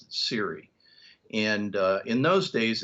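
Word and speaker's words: SERE: I was actually uh an interrogator for the Siri program and uh back in the Cold War Siri spelled s re and nowadays I hear people pronounce it sir but we pronounced it Siri and uh in those days it stood for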